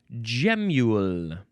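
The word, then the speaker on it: gemule: Next we have gamule. Gule. It's g e m u l e. It it is spelled like a gem mule.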